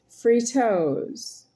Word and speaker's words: Fritos: And uh I am still talking about myself and these here Fritos. F R I is pronounced free. T O S is pronounced toes. Fritos.